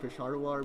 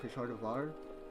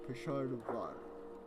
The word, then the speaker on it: Peshawar: Apparently, I've been pronouncing Peshawar wrong. I've been saying Peshawar, but I commented I should call it Peshawar with like a V in it. So there we go. Peshawar.